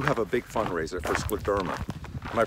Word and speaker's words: scleroderma: Every year, Bob, you have a big fundraiser for scleroderma. Am I pronouncing it correctly? Well, it's scleroderma, which means hardening of the skin, and we